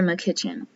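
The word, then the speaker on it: Makichen: pronounce his name, because I had been pronouncing it as McKitchen. But apparently, there is a YouTuber who also is an author. She wrote the book, The Energetic Fertility Method, which is a book I am also going to be purchasing in the future. She was mentored by Walter, and she pronounced his name as McKitchen. So it's Walter McKitchen.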